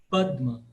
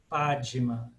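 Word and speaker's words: पद्म: com o d aqui o único cuidado é o d deudo padma padma dem mudo não é padma padima ess aí tem que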